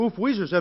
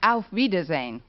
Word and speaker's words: auf Wiedersehen: car and stretch actually the word you have in mind is pronounced auf wiedersehen oh one of it